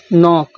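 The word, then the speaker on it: knock: होता है तो देखिए जब कभी न से पहले के आए तो साइलेंट होता है तो इसीलिए देखिए इसमें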